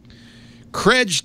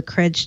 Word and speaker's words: Chredge: eight refs calms pronounce day trips the a is silent krej time before we say anything yes yes i i keep getting complaints on twitter from the courage team about me calling it courage but wait